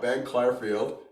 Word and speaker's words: Clarfield: We got Ben Clarfield. Am I pronouncing that correctly?